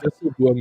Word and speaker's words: disselboom: You pronounced that pretty well, mate. Like disselboom, you actually like straight up nailed.